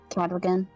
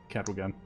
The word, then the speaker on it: Cadwagan: Cadwagan. Cadwagan. Okay. Oh, so you pronounced the W.